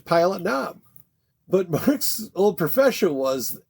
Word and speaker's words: Pilot Knob: So I put the emphasis on the knob.